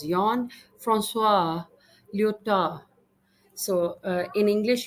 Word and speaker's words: Jean: Jean is pronounced as Jon.